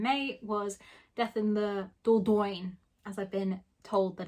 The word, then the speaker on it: Dordogne: picked up in may was death in the dordogne as i've been told that it's actually pronounced dordoyn i don't speak french this is the book